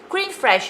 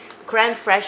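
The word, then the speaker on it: crème fraîche: me cream this is the same for cream cream fresh if you translate it into english would be fresh cream cran fresh fresh is a worth mean uh fresh like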